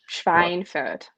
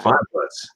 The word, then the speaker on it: Schweinfurt: Schweinfurt. Yeah. Schweinfurt. Ich liebe Schweinfurt. Und Yeah. Bavaria. Which is interesting because the Germans know that the W is pronounced like a V, but a lot of